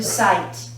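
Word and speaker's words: site: But when we add our silent E to the end, the pronunciation changes from sit to sight.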